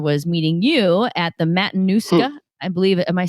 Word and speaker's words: Matanuska: And part of our outdoor adventure for the summer, was meeting you at the Matanuska, I believe, am I saying it right? Matanuska Glacier? Yeah, the Matanuska.